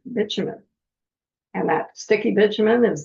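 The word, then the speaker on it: bitumen: And I know you all want to call it bumin but I looked up the pronunciation so you don't have to. And it is actually called bumen.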